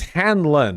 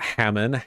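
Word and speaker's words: Hanlon: is Hammond's Razer no it's Hanlan not Hammond Hanlan never attribute to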